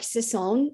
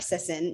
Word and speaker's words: Sisson: it well Mark always people would say is he Mark Sison and we're like no he's just Mark Sisson like you know like you don't need to add the French accent or whatever it is